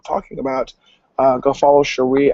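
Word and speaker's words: Shari: about uh go follow cherie alexander s-h-a-r-i alexander just like it's spelled um and you'll see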